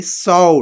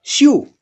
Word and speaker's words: sew: SEW sow here because we say sow, not shoe. Therefore, ACW sow rhymes with LOW low or DOUGH dow and BOW bow.